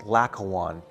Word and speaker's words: Laocoön: This piece, known as the Laocoön Group, L-A-O-C-O-O-N, or L-A-O-C-O-O-N-E, Laocoön, or it's pronounced Laocoön, was discovered in Italy, in Rome, at 1506.